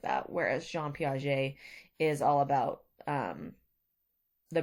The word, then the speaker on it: Piaget: name is spelled like piaget but it is a french name and it's pronounced piaget